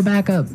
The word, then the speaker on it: back up: point out that here the pronunciation and stress of this phrase is really important, hey? Yes, yes. You have to say back up, Back up. back up. Yeah. So both words are stressed at about the same level, hey?